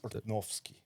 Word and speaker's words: Urtnowski: Urtnowski, but he's only 25% Polish. Pronounced Urtnowski. Urtnowski. Yeah, the W's are V's.